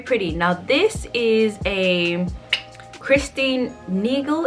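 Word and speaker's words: Christine Nagel: now this is a christine neagle is how you say her name creation now she is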